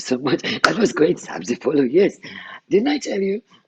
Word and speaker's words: sabzi polo: one of your favorite dishes and it's called sabzi polo so tell me why it's one of your favorite dishes while i enjoy it wow what a great pronunciation thank you so much that was great sabzi follow yes didn't i tell you if you tried